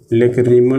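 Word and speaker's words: lacrimal: इसको कहा जाता है लेक्राइमल। एक इधर दे दीजिए, एक इधर दे दीजिए। इस बोन का नाम होता है लेक्राइमल। लेक्रीमल भी प्रोनाउंस कर सकते हैं।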